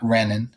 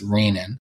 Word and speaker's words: renin: for cardiologists to know it's not renin it's raining otherwise the nephrologists make fun of you if you say it you've been getting